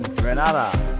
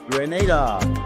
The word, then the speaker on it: Grenada: So, today like we German say we are in Granada, but I heard in English it's called Grenada.